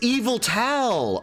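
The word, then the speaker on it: Yveltal: Yeet e eval evilto oh it's not yeal it's evil oh am I the first one that's realiz did have I've been saying it wrong this whole time it's evil tow oh evil it makes sense it's the dark type okay Evil all right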